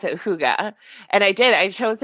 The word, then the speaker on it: hygge: Hy G G right yeah but it's you pronounce it Huga and I did I chose it as the